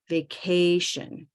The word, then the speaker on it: vacation: on the stress so where's the stress in vacation vacation vacation right or yes second the second syllable can you show me